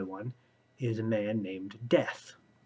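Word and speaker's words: Deth: is a man named death spelled d-e-t-h but pronounced like the word death uh that's actually one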